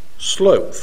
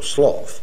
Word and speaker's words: sloth: to another deadly enemy idleness slope or sloth both pronunciations may be used in English which reminds me this